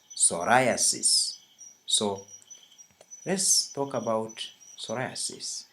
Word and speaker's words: psoriasis: talk about is psoriasis please note how I pronounce this word it's not psoriasis its psoriasis so let's talk about